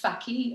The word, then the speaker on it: Fakih: Yeah, my social media, well, we're on IG, but _ Fakih, which is pronounced Fakih, as it's always really hard to pronounce.